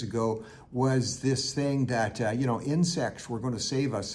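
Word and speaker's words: Ynsect: a company in France called Insect, and that's spelt with a Y, Y-N-S-E-C-T.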